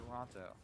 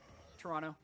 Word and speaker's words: Toronto: prepare to head to Toronto I was told actually by a tweet it's pronounced Toronto with no uh no T oh yeah today I